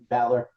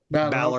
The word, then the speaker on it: Balor: Is it Balor or Baylor? I want to pronounce it right. Balor. Balor. Okay.